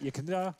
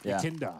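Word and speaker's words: Yekindar: Yekinda? I'm just going to say Yekinda. Yekinda. Yekinda. Yeah, like as in it's your Kinder Egg. Yekinda. Like a Kinder Surprise.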